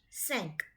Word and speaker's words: cinq: So it is quatre and CINQ, sank.